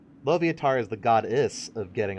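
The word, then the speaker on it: Loviatar: Dom isn't that loviator how do you pronounce loviator no not Larvitar lovatar is the goddess of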